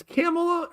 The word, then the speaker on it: Kamala: Kamala, ba, ba, ba, ba, Kamala, Whenever I start to say her name, I just get out the hard C sound, and then what follows rhymes with bunt.